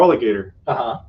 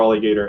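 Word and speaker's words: Feraligatr: name is you know spelled like an alligator but feral like f-e-r-a-l-i-g-a-t-r and the only important part is supposed to be that it's supposed to be er yeah but it's only an r because in the game they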